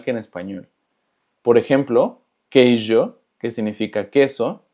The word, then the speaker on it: queijo: Por ejemplo, queijo, que significa queso, recordando que la J se pronuncia como Y, J.